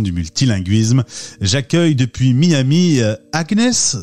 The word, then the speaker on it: Agnès: J'accueille depuis Miami Agnès, c'est ça qu'on dit Agnès? Oui, c'est ça, non, Agnès. Je te taquine parce que c'est comme ça que les Américains prononcent ton prénom.